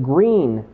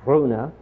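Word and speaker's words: Gruene: invitation is to visit green Texas which is g r o n NE e should be pronounced gruna but we in Texas have a way of changing pronunciations the invitation is to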